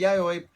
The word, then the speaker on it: Yayoi: Yawa I'm probably Yaoi pronouncing it Yawa wrong this whole time, honestly. Um. Oh, which one? Yayoi? Either of them. Yawa No, Yawa? Yayoi is right.